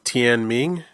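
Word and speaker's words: Tianming: Then it leads on to Tian Ming.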